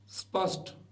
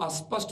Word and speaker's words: स्पष्ट: प्रयत्न करेंगे वैसे ही स्पष्ट स्पष्ट को कई लोग अस्पष्ट बोलते हैं स्पष्ट बोलते हैं स्पष्ट